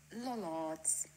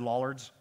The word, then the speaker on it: Lollards: check check check okay here we are gloucestershire lollards now you see that was not just the proper pronunciation but also in the beautiful accent that